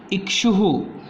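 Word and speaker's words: इक्षुः: Okay, इक्षुहु, इक्षुहु ऐसा उच्चारण है इसका, इक्षुहु।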